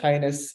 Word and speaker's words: KINDNS: Yazid Ankao to lead us through the kindness initiative. Yours, Mr. Ankao. Thank you, Stefan. So people used to ask, how do we pronounce this complicated name, right? But it's quite simple. It's just kindness.